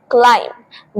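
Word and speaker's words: climb: एंड वैसे क्लाइंब चढ़ना बट इसे क्लाइंब नहीं बोलते क्लाइम B lateral silent next most common मिसप्रोनाउंस्ड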